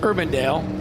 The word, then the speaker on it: Urbandale: Urbandale.